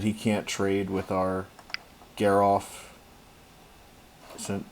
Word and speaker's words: Geralf: I think we should keep him off of that so that he can't trade with our Geralf.